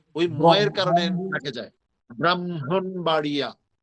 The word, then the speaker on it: ব্রাহ্মণবাড়িয়া: এখন এটা উচ্চারণ করতে পারি না, দেখে সংক্ষেপ করে বলি কি, বিবাড়িয়া। বলো, ব্রাহ্মণবাড়িয়া।